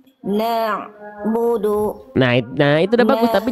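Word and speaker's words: نَعْبُدُ: Nah, ada bunyi ain dilafalkan dari tengah tenggorokan. Na'budu.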